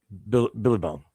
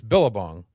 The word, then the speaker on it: Billabong: Billy Bong. It's Billabong. Yeah, why you say it weird? Jen and I say it right. You say weird. It's not Billy Bong.